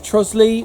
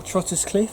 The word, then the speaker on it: Trottiscliffe: is exclusively about the village of trosley or trottus cliff depending on how you say it i'm a local boy so for me it's trosley it's just easy to sort of say we're going to talk